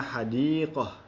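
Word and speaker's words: حديقة: Tetapi kalau kita membaca huruf atau kata ini dengan kita wakafkan atau kita berhenti, maka hurufnya seolah-olah kita bacanya adalah seperti ha. Contohnya hadiqah, ini kalau kita wakafkan.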